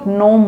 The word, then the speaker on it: gnome: হয়, অর্থনৈতিক জিনিসপত্র, মনিটারি ফিনান্সিয়াল অ্যাফেয়ার্সে খুবই এক্সপার্টকেও নোম বলা হয়।